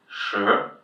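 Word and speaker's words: 十: And the last one, second tone which we haven't seen yet it's a tone where you go just up. So shí. shí. To pronounce that "s" "h" sound in you kind of roll your tongue a little bit backwards.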